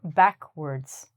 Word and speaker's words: backwards: So, as I said before, I can go backwards. Again, it looks like words, but it's word.